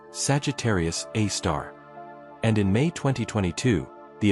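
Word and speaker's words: Sagittarius A*: The object is called Sagittarius a asterisk pronounced Sagittarius A star.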